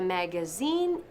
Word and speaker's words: magazine: Magazine no. Se dice también magazine. Magazine. Como la mosca. Zzz. A ver.